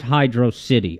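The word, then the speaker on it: Hydrocity: the younger side, right, he just flat out says, it's pronounced Hydro City, and that's the last word on it.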